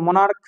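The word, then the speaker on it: monarch: এস লাগিয়েছি না মনে রাখতে হবে এগুলো যেমন মনার্ক মনার্ক হয়ে গেল দেখ মনার্ক সিচ উচ্চারণ আসল না তো যদি চো উচ্চারণ চলে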